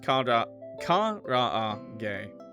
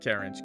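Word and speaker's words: karaage: You let him know it's pronounced kra gay. Not carriage.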